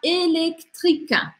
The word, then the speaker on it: électrique: Primeiro, o que não se fala, tá em vermelho. Electric, electric. E a questão dessa palavra são as três consoantes que se seguem aqui.